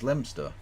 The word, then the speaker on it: Leominster: as gumer true and Leominster as lemster and tester is toaster